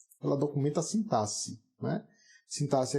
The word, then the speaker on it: sintaxe: Sintaxe é com X, a pronúncia com SS, né?